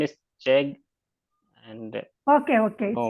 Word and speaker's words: Chegg: You said subject expert in CHEGG. What is the CHEGG? Ma'am, CHEGG, I pronounce it CHEG.